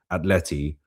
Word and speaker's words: Atleti: that those two games against Atleti, let me pronounce it correctly, Atleti, are, yeah, they're both like, how can I put this?